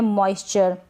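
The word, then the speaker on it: moisture: ये है मॉइस्चर। क्या है? मॉइस्चर। यहाँ पर ओ को आ पढ़ा जा रहा है, मॉइस्चर।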